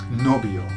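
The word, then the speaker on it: novio: and that is noo nobio okay so we got the word Noby now let's just keep it nice so imagine that you've got a boyfriend called Noby okay and you imagine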